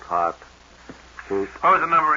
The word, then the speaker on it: Haute: None of my business, but I think you're mispronouncing it. Haute, Hot.